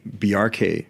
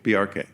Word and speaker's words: Bjarke: I normally explain it like there's a reference to Bork because it's a similar BJ. Yeah. But the symbol hack, just like you would say FBI or CIA, you pronounce every letter in the acronym. Say the acronym BRK quickly.